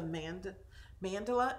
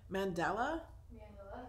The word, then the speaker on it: mandala: This is a mandala. Am I saying it right? Mandela? Mandala. Okay.